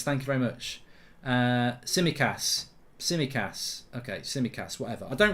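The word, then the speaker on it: Tsimikas: It's Samiskas, thank you very much. Simicas.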